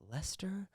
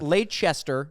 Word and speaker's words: Leicester: moved to outside of leicester oh god just shire oh gosh it's actually pronounced lester did you know that it's lay chester yeah chester is actually